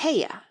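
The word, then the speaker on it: Haigha: His name is Hea. He pronounced it so as to rhyme with mayor.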